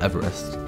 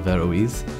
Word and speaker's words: Averroes: to hear about this school called everest which i later learned was actually pronounced the veroise and he's just talking